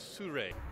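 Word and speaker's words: Sirui: we could call it how the heck do you pronounce this name it is su ray it's a little monopod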